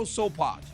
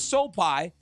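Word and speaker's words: Sopaj: Vinicius Oliveira knocked out Bernardo Sopai. I said I was going to say his name wrong. His name was Sopai with a flying knee after just debilitating leg kicks.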